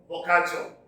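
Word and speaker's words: Boccaccio: from this collection now we have uh Giovanni bokacho okay this word is pronounced in that way is the the camera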